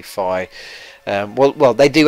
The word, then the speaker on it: Fi: five fee whatever um I call her fee because I think it sounds better but apparently her name is actually Phi um well well they